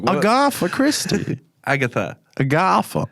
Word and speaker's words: Agatha: Agatha. Say the name properly. Agatha. It's like you're saying a house party, a gaffer.